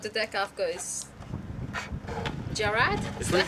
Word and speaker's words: Jarad: the deck I've got is Jarad? Is that how you say it? If these move, you know how windy it is. Yes. Here you go. Jarad. Jared. Jared. Golgari. Oh. No, I'm saying it's Jared.